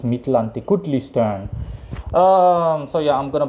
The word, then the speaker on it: Mictlantecuhtli: Aztec God of Death, Mictlantecuhtli. That's how his name is pronounced, Mictlantecuhtli.